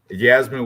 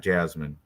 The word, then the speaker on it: Yasmine: Yasmin with a Y, by the way. Yasmin, not Jasmine.